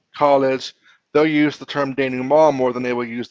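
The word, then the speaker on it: dénouement: you may not know how to pronounce it's pronounced Dan ma Dan ma it is another way of saying resolution you're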